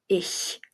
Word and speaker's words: ich: Examples: ich, ich, ich, which is I, sounds like ish.